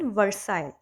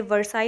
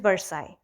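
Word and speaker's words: Versailles: Huge palace, it वाज इन वर्साइल. Okay. वैसे इसमें ये वर्साई होना चाहिए बिकॉज जो LLES है that has टू be silent as in French language. So इट इज़ वर्साई.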